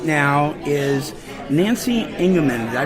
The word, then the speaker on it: Engeman: We're at Standford's restaurant, and with me right now is Nancy Engeman. Did I pronounce that correctly?